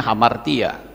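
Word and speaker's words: ἁμαρτία: itu dalam bahasa Yunani itu dikatakan hamartia ini bacanya hamartia Ya hamartia hamartema itu sama itu seperti seorang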